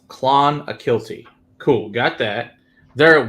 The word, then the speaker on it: Clonakilty: Can you spell it phonetically? Okay, so Donald says it's Clonakilty.